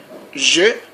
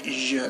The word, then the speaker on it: je: You have to say je. If you say je, never say je. Je is another thing. Always say je.